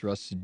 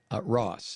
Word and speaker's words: Ross: from New York Times russed doat or however you pronounce his name and I don't care Ross not Russ d o u t